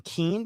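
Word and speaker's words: Keane: All right, let's see what uh general uh how do you say his name? Keen. Because there's a general Kane and then there's a general keen and we do should be we have to make sure he's Yeah.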